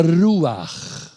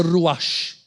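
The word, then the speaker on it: ruach: O nome espírito vem da palavra hebraica ruar. Ruar. R U a c h. Não pronuncia ruash. Porque no hebraico ch no final não tem som de shim, tem som de r.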